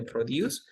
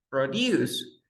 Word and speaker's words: produce: Pero se dieron el caso, de, por ejemplo, de produce, como verbo es produce, pero como sustantivo es produce. You see? Pronunciation is different.